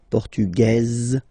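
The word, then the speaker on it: portugaise: don't pronounce the S feminine form portuges you pronounce this Z sound okay and then remember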